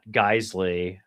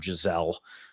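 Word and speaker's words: Geissele: so, like the question that you just brought up is like, is that Geisley, or if you're fancy and you pronounce them Giselle, What?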